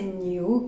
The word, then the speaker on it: 牛: On prenait la prononciation de bœuf en chinois, c'est Niu, qui est très proche de Niu en anglais.